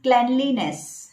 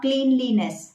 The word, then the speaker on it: cleanliness: In the same way, the word is cleanliness, not cleanliness. That should be cleanliness.